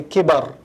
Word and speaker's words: كِبَر: That's why, for example, in the Arabic language, we say kibar, growth. وَقَدْ بَلَغَنِي مِنَ الْكِبَرِ عِتِيًّا, growth, development. But when you take the haraka away from the word and you say kibr, it becomes arrogance, because the arrogant is stagnant.